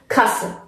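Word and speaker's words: Kasse: این اینه که اینجا حتما باید آ به صورت کوتاه تلفظ بشه که اینجا ما میگیم کاسه.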